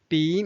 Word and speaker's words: 比: last word b b b means then or more than it can also be a verb means compare b the third tone so now let's read